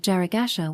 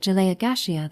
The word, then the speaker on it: Jaragasha: The pronunciation of Jaragasha was difficult for we who come from the countryside and have strong accents, so we end up pronouncing it Jaleia-Gashea that was the excuse that